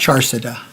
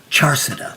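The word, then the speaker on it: Charsadda: Charsada. Charsada.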